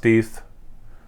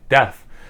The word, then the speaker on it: Deth: and yes it's pronounced death feel free to comment on it because it probably does help the algorithm if you comment no it's pronounced like death but um no it's